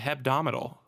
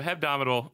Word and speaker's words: hebdomadal: So Hebdomadal means, which I try desperately to throw in another syllable in there where it does not belong. Hebdomadal means weekly.